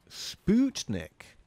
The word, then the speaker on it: Sputnik: know um also the put in sputnik is pronounced put sputnik apparently is the proper russian pronunciation of that